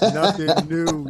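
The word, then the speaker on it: Nothing Neue: man yo y'all heard it from him from nothing new man yo he speaks in beats blips pixels and bits it's pronounced nothing new Yo H yo my guy I appreciate you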